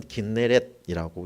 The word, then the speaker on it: 긴네렛: 그래서 히브리의 철자에 따르면 긴네렛이라고 읽게 되고요.